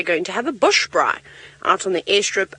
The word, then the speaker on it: braai: So it's spelled B-R-A-I, braai. You can roll your R if you like. Brent likes to roll his R's lots.